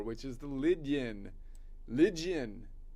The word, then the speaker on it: Lydian: Lydian. You say it like a barbarian. This is Greek. Oh, ancient Greek, it's Lydion.